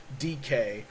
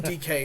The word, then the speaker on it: Dike: I've drafted a player called Chimera DK, but it's spelled Dyke, and I spent like a podcast saying Dyke, and Florida fans were just lighting me up left and right. I was like, what do you mean DK?